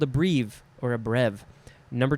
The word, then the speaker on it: breve: Now we have breve, B-R-E-V-E, could also be pronounced brev.